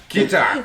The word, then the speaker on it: Keta: See, Kida. Plus I got an accent to begin with. Keta. Yes. The D is silent.